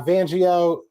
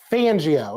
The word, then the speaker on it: Fangio: be I agree uh vanio is it's fangio okay I gotta say it right who was it that